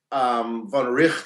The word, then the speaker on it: von Wright: von Wright, von Richt, I think it's pronounced.